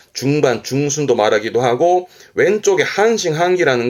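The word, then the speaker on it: 半信半疑: 발음은 그래서 반투명, 한토메, 한토메. 믿을 신자에 의심의 의자. 이게 반신반이군요. 한싱한기, 한싱한기.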